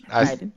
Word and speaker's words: Gaiden: I was saying it wrong before. Gaiden.